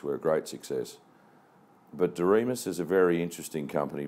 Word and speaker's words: Doriemus: One of the really exciting things that I'm doing, and that's why I came on the board of Doriemus, as the guys in the office call it,